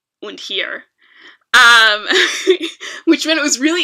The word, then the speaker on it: hir: and here which is spelled hir but pronounced like here i know that one's